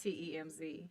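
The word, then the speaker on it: Thames: really really crazy but it's spelled t-h-a-m-e-s but it's pronounced t-e-m-z it is how did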